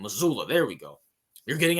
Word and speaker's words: Mazzulla: I don't know how to pronounce his name. Mazzulla. That's his name. Mazzulla.